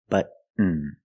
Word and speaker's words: button: C like cotton candy button button not button it's Buton stop T and fall to the end but push a button